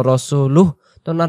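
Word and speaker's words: رَسُولُهُ: না আবদুহু ও ওয়া রাসুলুহ শেষে রাসুলুহু দেওয়া আছে আমরা এখানে যেহেতু উচ্চারণটা আমরা নিশেষ শেষ করতেছি এজন্য রাসুলুহনার হু বলার দরকার নাই ও রাসুলুহ এমন করে তাহলে এগেইন আমরা শুরু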